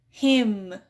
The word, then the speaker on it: hymn: So we have autumn, hymn.